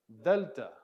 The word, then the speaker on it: Delta: is Delta Delta and this is kind of a D sound but it's kind of a breathy D sound so you're using your tongue a little bit Delta Deltas kind of the as we talked about the th in the the delta all right